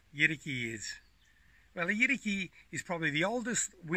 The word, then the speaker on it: yidaki: traditional name is a yeti key some white people will call it a year ducky but the Aboriginal pronunciation is Yeti key in order to understand